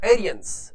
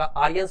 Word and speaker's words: Aryans: जैसे द एरियंस, ये थोड़ा उच्चारण थोड़ा अलग तरह से है, द आर्यंस भी बोल सकते हैं, द एरियंस भी बोल